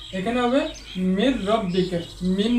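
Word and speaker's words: مِن رَّبِّكَ: হরফ আসছে তো এখানে নুন সাকিনওয়ালা হরফটি উচ্চারণ হবে না এখানে হবে মির রব্বিকা মিন না বলে বলব মির রব্বিকা এটাও এভাবে মাইয়া মাইয়ামাল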